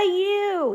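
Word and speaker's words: ewe: Heart means love, and what do we call a female sheep? A U, E-W-E. Yep, it sounds like Y-O-U, but it's spelled E-W-E.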